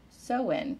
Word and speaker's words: Samhain: back to the ancient celtic festival of samhain pronounced so in so it's spelled s-a-m-h-a-i-n but is pronounced so